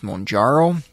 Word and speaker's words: Mounjaro: Brand name of this medication is Mounjaro. I have heard it pronounced a few different ways, but I believe that is the correct pronunciation.